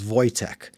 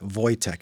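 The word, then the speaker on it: Wojtek: So in the story Prohus, the protagonist's name is Voytech. Wo J K. Voytech is how you say his name. It's a Slavic name.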